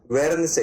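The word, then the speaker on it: Guernsey: जाता है यहां पे प्रोनाउंस हिंदी में भी लिख रखा है बेटा ग्वेन से ग्वेन से आईलैंड ठीक है इस वाले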